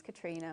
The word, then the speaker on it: Katrina: different way yeah so when I started the business it in my mind it was katri because my name's Katrina my middle name's katri and then I slowly realized not a single person pronounces it like that sorry so it